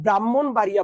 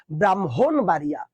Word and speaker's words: ব্রাহ্মণবাড়িয়া: ব্রাহ এখন তোমরা বলতো তোমরা যারা ব্রাহ্মণবাড়িয়া বল এটা কিন্তু ভুল বল এটার উচ্চারণ কি জান ব্রাহ্মণবাড়িয়া তোমরা যারা ব্রহ্মপুত্র বল